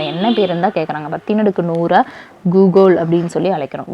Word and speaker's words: googol: 10⁻100 கூகுள் அப்படின்னு சொல்லி அழைக்கிறோம். கூகுள் இல்லை, கூகுள். ஓகேங்களா. GOOGOL. ஓகேங்களா.